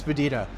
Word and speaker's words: Spadina: No, it's Spedina. Here's the thing. The street itself and the Subway line and all of that stuff. It's actually Spadina, but it's initially pronounced Spedina because of Spadina House and the family that was there.